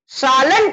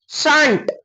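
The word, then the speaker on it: shan't: एक चीज और आएगा शल प्लस नॉट शैलंट नहीं शंट क्या आएगा शंट आएगा दिखाता हूं सब दिखाता हूं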